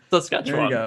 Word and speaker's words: Saskatchewan: Saskatchewan. There you go. It's as it's spelled.